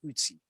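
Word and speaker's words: Ötzi: I believe the correct pronunciation is Utsi. Okay, Utsi the Iceman.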